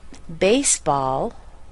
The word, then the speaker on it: baseball: But when we're talking about pronunciation, we need to notice that a compound noun is always stressed on the first word of the two words.